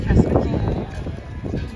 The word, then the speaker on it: Castaway Cay: at Cast Away key is it Cast Away key Cast Away K all right then I said it right Cast Away key this is the first